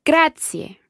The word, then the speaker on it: grazie: a gratia gratia gratia there are three syllables there almost grad C a grad C a okay perfetto Grazia